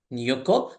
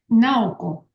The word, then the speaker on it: Naoko: We will start our session today with Professor Nyuko. Did I pronounce it correctly? Yes, Naoko. Yes.